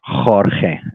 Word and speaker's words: Jorge: And I said, "My name is Jorge." This is how Spanish people pronounce Jorge, Mhm. and the people says, eh, eh, or, or, "Orge."